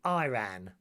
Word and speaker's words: Iran: As the Americans say, Iran. It's Iran.